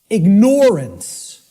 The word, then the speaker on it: ignorant: the way it's pronounced I tell people start pronouncing it ignoring ignorant then people will hear the word ignore in it and and the connotation